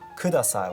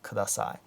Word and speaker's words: kudasai: So kudasai, make it really flat. Like there's no stress in saying kudasai. It's not kudasai or kudasai, okay? It needs to be flat, kudasai, okay?